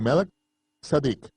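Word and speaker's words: מַלְכִּי־צֶדֶק: actuando como un sacerdote según el orden de melquisedec o como se debe pronunciar de málaga sadik el rey saudí justicia el orden sacerdotal del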